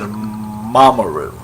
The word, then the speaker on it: Mamoru: Actually, they pronounce it Mamoru. So yeah, they seem to put the stress on the first syllable of all the names, except Usagi and Ami.